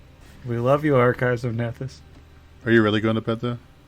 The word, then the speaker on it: Nethys: Good night, Blake, and your wonderful site, the Archives of Nethys, as it is canonically pronounced. Nethys.